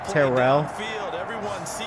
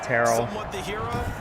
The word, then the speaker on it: Terrell: And so he pronounces his last name Terrell. I always think Terrell.